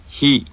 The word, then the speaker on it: ひ: This syllable sounds very similar to the English word he, but the Japanese sound is more clipped and is produced with more friction.